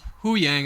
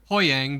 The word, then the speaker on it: Huyang: hang hang hang yeah they say they pronounce it huyang I would have thought Hoang but it is weird